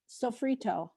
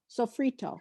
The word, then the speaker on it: sofrito: Sofrito. Sofrito. Sofrito.